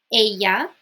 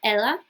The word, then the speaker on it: ella: say l means he Aya she so the Double L in Spanish is pronounced like a y so a not Ella a noos is we